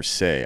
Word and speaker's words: Sey: we've got a very special guest today Jennifer say I hope that's how you say it because